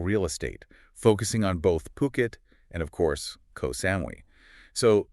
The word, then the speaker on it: Phuket: They're a luxury real estate agency actually based in Puket. And it's crucial to get that pronunciation right. It's Puket. Yes, Puket. Definitely not Phuket.